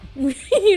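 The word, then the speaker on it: Yeoh: So Michelle, I don't know how to pronounce her last name. Is it Yo? Is Yo? Oh, okay, Yo.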